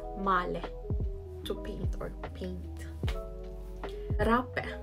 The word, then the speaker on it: male: Male in English, but in Norwegian it is male, to paint or paint.